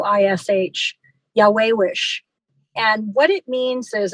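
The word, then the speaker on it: yayawish: for beauty and it's um the word is pronounced it's um spelled Y A Y A W I SH Yahwehish and what it means is it means beauty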